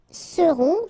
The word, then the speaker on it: seront: end, et serez, alright, ils seront, final T not pronounced, and then you get this nasal, on, seront, elles seront.